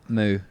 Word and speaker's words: MOU: Moo. I think it's Moo, right? Because it's MOU, which is often used for Jose Mourinho.